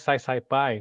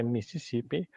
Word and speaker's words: Mississippi: Alguns que pronunciam o I como I, ficaria mais Sai Pai, né? Mas não é mais Sai Pai, é Mississippi.